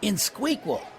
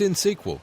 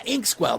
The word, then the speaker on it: INXSQL: I think it was Inqual. You mean INXSQL? That's in SQL.